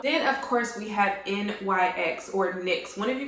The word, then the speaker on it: NYX: sale as well then of course we have NYX or NYX one of you guys corrected me